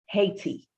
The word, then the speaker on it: Haiti: book called Hope for Haiti, all right? Or for those of you who pronounce it the correct way, especially my Haitian brothers and sisters, Haiti, all right?